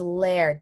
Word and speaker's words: lair: you think scarlet um it can be a layer or a liar lair so the word is lair Jax that's off topic